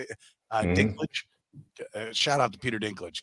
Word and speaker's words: Dinklage: So, by the way, Nick says, Peter, that's how you say it, Dinklage.